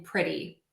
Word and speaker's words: pretty: when you have a T in the middle of the word, it can be one or two. If it is between two vowel sounds, the and the E in pretty, or if it is between a vowel and an R, like matter, or a vowel and an L, like cattle or metal, we are going to pronounce that T as a flap T.